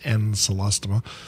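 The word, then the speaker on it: Ancylostoma: but the other is anceloma pronounced encelastoma caninum which is also adorable and celestial not in cyclostoma or anything because there's no second c in it yes exactly i got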